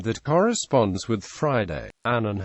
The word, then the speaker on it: Annan: Annan has said his surname rhymes with canon in English.